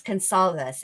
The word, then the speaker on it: Gonsalves: Yeah, and hearing Steve Gonsalves, I cannot get over the C being sounding like an S because I always think that the CA should be a hard C like caca, but apparently that's not how you say it.